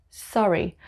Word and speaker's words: Surrey: walking it's working working number four sorry sorry in the south of england it's called surrey sorry sorry number five it's